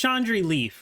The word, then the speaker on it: Chandrilyf: It's Chandri Leaf, right? That's how you say it?